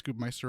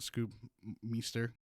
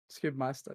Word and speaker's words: Scoobmeister: It's Scoobmeister, right? Not Scoobmeister, Scoobmeister, yeah.